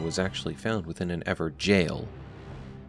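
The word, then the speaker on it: Evergaol: actually found within an Ever jail notice how I'm putting emphasis on jail as many in the community left comments calling us out on our mispronunciation of evergel as evergowl we've learned our lesson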